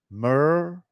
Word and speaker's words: Merkaba: And we're going to say it as it's meant to be said. Mer-Ka-Ba.